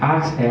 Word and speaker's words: Axl: Entonces uno le decía Axel, no, el profesor no es Axel, es Axel, o sea, Ax y la L, Axel, o sea, no Axel, porque no tiene.